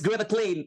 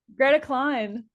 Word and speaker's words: Greta Kline: So this is Greta Clint from Frankie Cosmos. Is it true? Greta Klein. Greta Klein. Oh my god. Yes. This is Greta Klein.